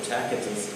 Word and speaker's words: Tacitus: There's a Roman historian by the name of Tacitus, or Tacitus, depending on how you pronounce the C, who records what Nero